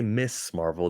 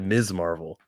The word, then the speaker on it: Ms. Marvel: Did they just pronounce Ms. Marvel's name properly? They didn't say Miss Marvel. They said Ms. Marvel.